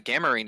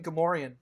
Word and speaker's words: Gamorrean: And in case you're not familiar with what a Gamarine is, those are the pig guards of Jabba's palace. You mean Gamorrean?